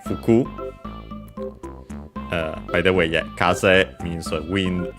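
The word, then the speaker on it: 風: Kaza fuku uh by the way kaz means wind. It's the Japanese word for street is Japanese word for wind. Kaz unexented and so Kaza Fuku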